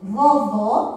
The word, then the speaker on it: vovô: Vovô tem o som fechado. Vovó tem o som mais forte.